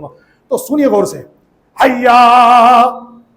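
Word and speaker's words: حَيَّ: حیا، الف نہیں ہے سرکار، ہجے کروں کیا؟ ہا یا زبر حی، یا زبر یا، حیا. آگے کیا؟ عین زبر آ، پھر لام زبر لا.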